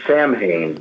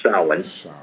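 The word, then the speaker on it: Samhain: Celtic regions it was called um sa it spelled like Sam ha but it's pronounced sin s and that was the night it was thought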